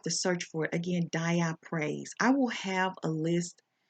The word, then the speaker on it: dioptase: Dioptase.